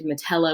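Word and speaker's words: Metellā: a long a so kikilio with that long o and matella with that long a that was in our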